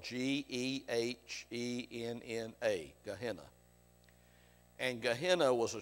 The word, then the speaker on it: Gehenna: It's spelled G-E-H-E-N-N-A, Gehenna.